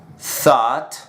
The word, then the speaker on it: thought: La pronunciación es esta: thought, taught, thought, taught. Por ejemplo, I was confused.